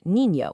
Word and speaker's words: niño: It makes that ñ sound, kind of like the one you hear in the English word canyon. You hear it perfectly in the word niño, which means child.